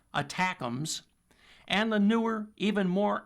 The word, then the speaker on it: ATACMS: Those include the ATACMS, short for Army Tactical Missile Systems, pronounced ATACMS, and the newer, even more accurate, and even longer-range Precision Strike Missiles, or PRSM.